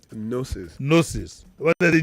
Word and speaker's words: Gnosis: Gnosis. Gnosis. What is the G there now? Yeah, the G is silent. If it's silent, why put it? It's not me, it's Latin.